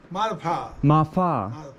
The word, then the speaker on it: Marpha: name of this Village it seems to be Ma Pa mafa it's Ma Pa but with a bit of an F in it but this is